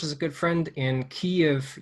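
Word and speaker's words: Kyiv: a good friend in key of ukraine or cleve uh is the proper way to say it um he's been a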